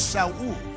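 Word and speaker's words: Shaul: hebrew word for so the hebrew pronounce him as shalu it means desired he was the desire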